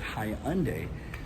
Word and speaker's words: Hyundai: there's you know the Hyundai Hyundai Hyundai high everyone knows it I guess I undo the proper pronunciation but hi unday is doing they had